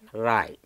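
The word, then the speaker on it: wry: yes okay now and w r y is pronounced as Rai okay can you can you say some more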